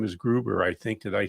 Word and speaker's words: Gruber: And her last name is Gruber, I think.